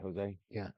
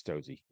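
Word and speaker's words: José: Jose? Yeah. Yeah, it's Josie. It's spelled like Jose.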